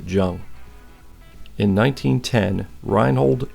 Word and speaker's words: Juenge: i couldn't sand out i believe the maker's mark is j-u-e-n-g-e i'm going to pronounce it jung in 1910 reinhold h